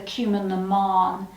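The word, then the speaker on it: Cumann na mBan: this incredible uh women's voluntary organization called the cumin naman and uh when you read it in the book you'll see it and it's spelt cumin bon it's pronounced cumin naman um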